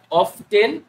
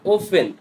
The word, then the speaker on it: often: বিষয় হচ্ছে এই অফটেন এমন একটা শব্দ যেটার অফটেন এবং ওফেন দুইটা উচ্চারণই রাইট হয় জেনারেলি এভরিডে অকেশনালি ইউজুয়ালি এই ওয়ার্ডগুলোকে বলা হয় এডভার্ব অফ ফ্রিকোয়েন্সি।